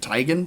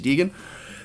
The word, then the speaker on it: Teigen: media titan chrissy teigen i think she pronounces it tygan but i think everyone else knows her as christy deegan the seemingly random choice